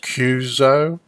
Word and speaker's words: QSO: qso with so-and-so but a qso and it's normally pronounced cuzo so you might be